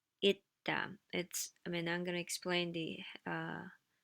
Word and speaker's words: 있다: 있다. And the funny thing is, you don't hear the s sound. 있다.